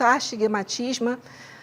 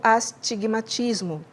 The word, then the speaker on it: astigmatismo: A gente fala muito astigmatisma, mas a pronúncia correta é o astigmatismo.